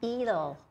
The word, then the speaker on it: Edel: I know, she said to me, it's like Edel, or not, sounds like needle.